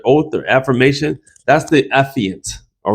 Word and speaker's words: affiant: Can barely pronounce it. Affiant, affiant.